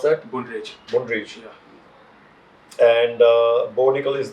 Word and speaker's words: Brundage: How do you pronounce that? Brundage.